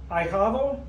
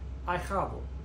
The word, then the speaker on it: ahijado: Ahijado, the H is silent, so the A and the I together form a diphthong, two vowels forming one sound, and it sounds like I. Ahijado. Ahijado.